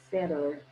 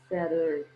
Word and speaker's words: center: Então você pode falar center, center, center.